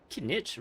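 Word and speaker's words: Kinich: in that boy's brain can Nitch rhymes with spinach and he's also green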